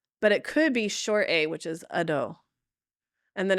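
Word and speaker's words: adho: Um, so it is a short a. So it's ado ado a ado ado.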